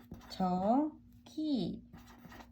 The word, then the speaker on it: 저기: The pronunciation 저기.